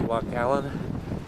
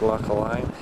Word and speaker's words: Loch Aline: Pronounced Loch Allen, even though it looks like Loch Aline.